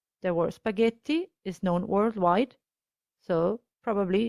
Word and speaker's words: spaghetti: g and the i as we said before the h is silent it's just a marker